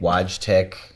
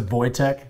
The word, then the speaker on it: Wojtek: the pronunciation W tech waj tech what how how what's is that right or no not at all okay so so how do you say it so it's a voytech but like yeah wte that's